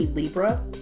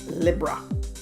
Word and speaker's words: Libra: change it good day Libra or as the Brits say libera libera this is your 2019